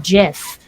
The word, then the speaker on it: GIF: about it and so he basically said it's pronounced jiff who is what he